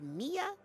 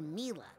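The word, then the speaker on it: Milla: Is it pronounced Mia or Mila? Well, it's short for Camila, you know? But when I first started here, Sasha mispronounced it and I thought it was so cute. I didn't have the heart to correct him, and now I kind of like it, darling.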